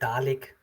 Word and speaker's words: Dalig: Is that Dalig? Have I said that correctly? In German, I would say Dalig. It's a bit slower there, but Dalig is fine for me.